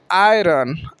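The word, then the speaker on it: iron: जाएगा और नीचे आइए आयरन आयरन आई आर ओ एन आयरन आयरन तो यहां प आई आ रहा है तो आई का उच्चारण आ भी होता है यहां तक समझ गया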